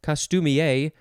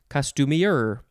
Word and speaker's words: costumier: That's one way to say it, costumier, or you can say costumier.